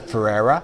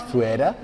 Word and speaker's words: Ferreira: I normally used to pronounce it Ferrer. That's wrong. It's fuea.